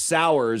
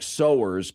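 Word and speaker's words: Sowers: But uh they announced today that now it's pronounced sour but it looks like sers because s o w e r s you know like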